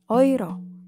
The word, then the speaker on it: Euro: Diphthong oi misalnya ada pada kata euro. Ditulis EU, tapi dibacanya euro. Dan tidak dibaca euro ya, euro.